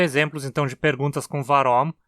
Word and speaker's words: waromm: o motivo de algo é comum também ouvi-lo sendo pronunciado faromi com som DF Provavelmente por influência da preposição só como se essa